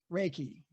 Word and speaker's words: reiki: reikay who's what can somebody give me the pronunciation reiki yeah ricky you reiki me all right so